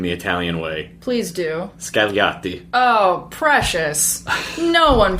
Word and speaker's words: Scagliotti: And it's actually a long O, if I'm going to get nitpicky. Scagliotti. But, yes, correct. That's nice. The G is silent.